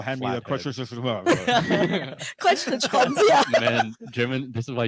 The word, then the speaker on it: Kreuzschlitzschraubenzieher: Kreuz, Schlitz, Schraubenzieher. Kreuzlichtschraben. Kreuz, Wow. Schlitz, Schraubenzieher. The whole middle of that word was like one syllable.